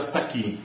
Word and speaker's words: Sasi: Y a Saki, ya saben cómo es se escribe Sasi, pero en maya se pronuncia Saki.